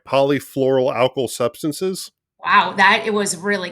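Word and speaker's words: polyfluoroalkyl substances: Polyfluoral alkyl substances.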